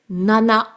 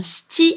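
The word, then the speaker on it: 七: Mais c'est vrai que 4 peut se prononcer shi ou yon, 7 peut se prononcer nana ou bien shiti, et le 9 peut se prononcer kyu ou bien ke.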